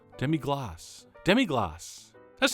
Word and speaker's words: demi-glace: our epic two-part series on how to make demig glaze or as thousands of French people on the YouTube comments from the first part are insisting I pronounce it demig gloss demig gloss demig gloss that's not that hard I think